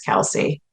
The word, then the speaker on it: Kelce: I did know who wait his name's Travis Kelsey I just said it wrong Kelsey does it